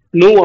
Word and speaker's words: nu: நம்ம நியூ அப்படின்னு சொல்லி இந்த சிம்பலை சொல்லணும். நியூ அப்படின்னு சொல்லி ப்ரொனவுன்ஸ் பண்ணுவோம்.